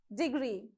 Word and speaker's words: degree: Degree, okay, degree. So on gree, you have to put more stress.